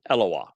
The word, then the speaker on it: Eloah: will let's begin with eloah eloah is the title God it derives the o sound from the Hebrew W and the a sound